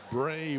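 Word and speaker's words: Bry'e: she's in the book bray wolfe that's how you pronounce her name b-r-y apostrophe e is brave bomber says i think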